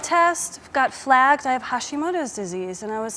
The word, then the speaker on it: Hashimoto: Hashimoto.